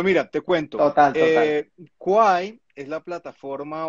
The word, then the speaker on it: Kwai: perfecto perfecto cuál es tal cual no se pronuncia guay soy de y de hecho parte de la